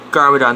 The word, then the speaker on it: Garmadon: defend ninjago city from his dead or gargamadon garmadon that's how you say it when the film